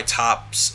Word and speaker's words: Toppo: Top, or Toppo, for example, and I know it's pronounced Top, but just either way, he's probably the clearest representation, obviously, of the organization's traditional ideology, right?